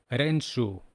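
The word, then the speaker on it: 練習: The next word is practice, renshu. Now we're seeing on the screen words ran, shu. We can imagine that someone is practicing running in a shoe, right?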